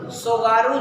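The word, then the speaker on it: Tsugaru: सुगारू जलसंधि। सुगारू, सुगारू जानते हैं, ऐसे लिखा जाता है। टी क्या होता है? साइलेंट होता है।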